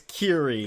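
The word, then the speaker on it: Kirie: overtaken by Spirals and we have what what pronunciation do we land on Kyrie Kyrie a Kyrie yeah they say it's Kiri now it's been two weeks we can say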